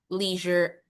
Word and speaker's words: leisure: And then when you're talking about leisure activities. Nalilito ako. In British, they pronounce it as leisure.